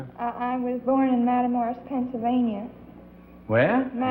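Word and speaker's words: Matamoras: I was born in Madamorris, Pennsylvania. Where? Matamorus, Pennsylvania. Misachina, Pennsylvania. It's It's a Spell it.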